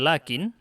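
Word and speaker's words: لكن: Berikutnya, lakin. Kata lakin diucapkan panjang lamnya.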